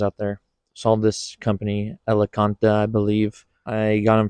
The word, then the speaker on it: Elecaenta: Elecaenta. That's how it's pronounced.